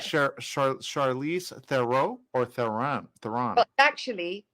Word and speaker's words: Theron: It's like Charlize Theron or Theron. But actually, Tron. That's how you would actually pronounce it in South Africa.